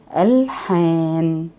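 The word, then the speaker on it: ألحان: I mean that if I want to spell the word, I'll say this word, I'll pronounce it alhan. Alhan. Spell it alif, lam, ha, alif, and noon. Alhan means melodies, and it's noun.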